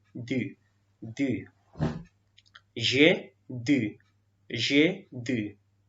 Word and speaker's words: dû: What is the pronunciation? Du.